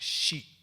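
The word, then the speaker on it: 士: That is also read samurai, but also it's in the Japanese pronunciation, which inspires by the original Chinese, is pronounced shi, S-H-I, and the Chinese would pronounce this shur, S-H-I-H, shur.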